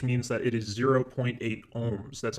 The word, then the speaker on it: ohm: The variable for resistance is capital R, and the unit is capital omega, which we pronounce as ohm.